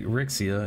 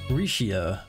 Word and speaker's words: Rixia: It's not like Rixia, it's like Shea or some shit. Rishia.